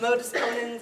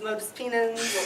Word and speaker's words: modus ponens: We had braces, we had bangs, we used trigonometry to make inappropriate jokes, and we mispronounced modus ponens as modus penans.